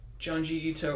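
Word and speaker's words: Junji Ito: right now look up geunji ito illustrations good luck spelling them it's smell it's spelled like it sounds ju n ji I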